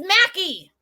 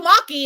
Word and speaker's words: Mackie: i said it but i used to call you maki and you were like that's not my name no that's true so